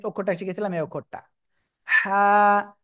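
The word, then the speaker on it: حاء: ওকে, আমরা তার আগে যে অক্ষরটা শিখেছিলাম এই অক্ষরটা হা। হা। আমার কিন্তু মনে হচ্ছে আপনাদের একটা শীষ হচ্ছে, কিন্তু শীষ দেওয়া যাবে না কিন্তু, হ্যাঁ। গলাটা চেপে হালকা বাতাস বের করে উচ্চারণ করতে হবে।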